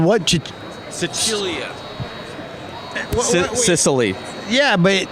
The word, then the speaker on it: Sicilia: Sicilia. Sicily. Yeah, but it's like a combination of 2 things. I think what it is the actual way that you pronounce it, Sicilia, and it's based on